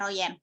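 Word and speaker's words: Van Roijen: Royen dan Dae Herman Van Royen ameroyal ya dibacanya Royen jadi dia menetapkan bahwa bangsa Belanda setuju kembalinya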